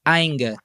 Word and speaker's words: Ainger: Mas assim, eu gosto muito assim da Vice Bear da Ainger, que se escreve A Y N G E R. Ainga, que é também de uma região, de uma cidade bem próxima de Munique.